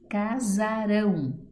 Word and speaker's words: Casarão: Casarão, sílaba tônica, rão, oxítona.